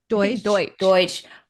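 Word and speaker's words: Deutch: The whole time I was thinking, why couldn't Zoe Dush, how do you say her last name? Deutsch.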